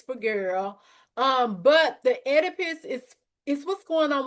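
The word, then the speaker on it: Oedipus: exam is the um edipus. I know it starts with the O, but the O is silent.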